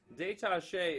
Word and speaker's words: détaché: Détaché is where you use the bow straight across and the weight never lets up. Okay? So this is détaché. And it sounds like the word detached.